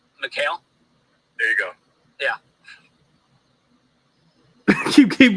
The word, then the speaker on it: Mikal: And then we get to Michael Bridges' volume over the last, Hey, Ben, how do you spell his name? What? How do you spell Mikal Bridges' name? Mikal. How do you say his name? Mikal.